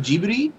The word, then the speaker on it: Ghibli: great time is it pronounced Ghibli it's actually pronounced gee buddy ok that's what I've been calling I didn't